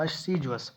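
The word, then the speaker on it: assiduous: इसके सिनोनिम्स मिलेंगे आपको इंडस्ट्रियस, अस्सीजुअस, जिसका आप देखोगे प्रोनाउंसिएशन में लिखा है अस्सीजुअस, अस्सीजुअस, हार्ड वर्किंग या शेड्यूलस स्टूडेंट, ठीक है। इसका प्रोनाउंसिएशन देखो अस्सीजुअस।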